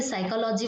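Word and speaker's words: psychology: गया साइलेंट जैसे कि साइकोलॉजी वर्ड है य स्टार्ट होता है पी से साइकोलॉजी ठीक है साइकोलॉजी ऐसे स्टार्ट होता है पी से बट यहां पर साइलेंट क्या है पी सिर्फ साइकोलॉजी हम लोग बोलते हैं इस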